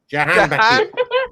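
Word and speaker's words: Jahanbakhsh: Jahan Bakish.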